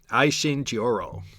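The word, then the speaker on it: Aisin Gioro: holiday with his family to confirm the Manchu pronunciation. Aishin Jioro.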